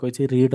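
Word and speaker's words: read: past participle form मो रीड और past participle form रेड spelling समान खाली प्रोनाउंसिएशन हेल्पिंग वर्ब कौन ना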